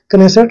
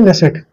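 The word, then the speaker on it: Knesset: Kinnaird पढ़ लीजिए या के साइलेंट कर दीजिए। इंग्लिश में लिख देता हूं मैं के एन E double S ई टी ये इसकी संसद का नाम है कनेसेट या फिर नेसेट इसको आपको ध्यान रखना है।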